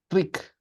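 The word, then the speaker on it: རིགས: Rick. Rick, because I'm introducing the secondary suffix. So the secondary suffix doesn't do anything basically.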